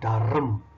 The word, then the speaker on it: Durham: kota di utara bernama dharm Iya Bapak Ibu nggak salah dengar Hai walaupun tulis adeu rhm namun bacanya Darren Saya pernah salah dengan